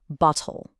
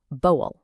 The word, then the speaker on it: bottle: Okay, I want you to listen really closely to the T sound. In a standard pronunciation, it's pretty distinct, right? Bottle. But in a lot of common British accents, that T sound just disappears. It becomes more like boel.